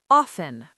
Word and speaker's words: often: Often. O F Ten. This is controversial. Some people say often, some say often.